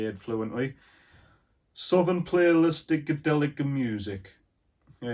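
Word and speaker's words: Southernplayalisticadillacmuzik: to say it fluently southern playlistic delica music yeah you have to say it like an italian something to play a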